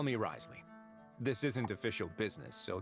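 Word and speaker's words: Wriothesley: The name's Risley. Uh, Risley. Zeus. I need to look up the ethmology of that name cuz how do you get Rley from Rasley? I swear British pronunciation is so weird.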